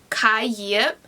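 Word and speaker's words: Khai: of the bride test it follows kai yep i think that's how you pronounce his name because it's vietnamese so the d should be a y sound but anyways kaiyep um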